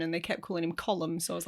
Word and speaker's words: Colm: But I used to pronounce it comb.